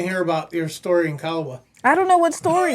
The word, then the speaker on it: Calwa: guys, it's not Calwa like I've heard growing up. It's Calwa. Two Calwa. syllables. Calwa. Everybody that's not from there says Calwa.